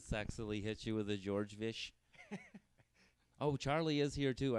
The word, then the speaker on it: Georgevich: It's Georgevich. Georgevich? Ten letters, 2 syllables, yeah. Georgevich.